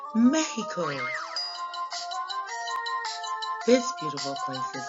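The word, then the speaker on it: México: And in Spanish, it's pronounced Mexico.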